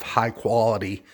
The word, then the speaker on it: Hykolity: out to a company by the name of high quality lighting and the name is spelled a little bit different its hy kol ity I'll put a link